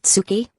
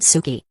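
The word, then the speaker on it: 好き: Not Tsuki, but Suki.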